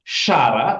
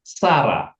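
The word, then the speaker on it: שָׂרָה: Sarah, nama Sarah itu pakai sin, bukan pakai shin ya. Bukan Syara, tapi Sarah.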